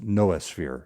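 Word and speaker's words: Noosphere: And again, it's Noah Sphere is how they're pronouncing it.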